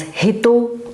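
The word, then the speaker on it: 人: derived from this figure which is read as hito or a person so these are some of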